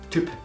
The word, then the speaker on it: Typ: En alemán se pronuncia como entre una I y una U. Me recuerda un poco a la U umlaut, pero no es realmente así.